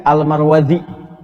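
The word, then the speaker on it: المروروذي: Cara bacanya ada dua yang di sini. Almar Warudzi. Almar Warudzi. Ya, itu kalau ada di sini saya berikan ee apa khilaf apa depannya taglif ee bagian depan jilid depan ini ada tulisan mim ra wau ra wau zai dal ya almar warruudzi cara bacanya karena orang terlalu sulit maka seringkiali disingkat almarwazi ya nasabnya ke sini marwazi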